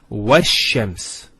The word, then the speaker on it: وَالشَّمْسِ: This is al of definiteness. This is hamzat al-wasl. It's not pronounced, because there's something before it. Similarly, this lam is not pronounced either, because as we said, this is from the sun letters, and there's a shadda there. So it's wash-shams.